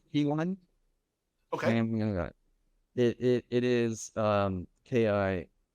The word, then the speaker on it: Ki One: It's pronounced P1.